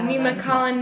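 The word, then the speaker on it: Nemacolin: all what is it nema collin that's the name of the resort is that how you say it yeah nema collin nimasalan something it's a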